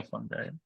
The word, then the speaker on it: fungi: Mark and Mark, we will pronounce fungus sometimes with a hard G or a soft G. Either one is Yeah. acceptable.